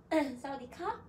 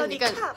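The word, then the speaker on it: สวัสดีค่ะ: 약간 사우디카. 살짝 올려. 에이, 끝에 끝에. 사우디카. 사우디카.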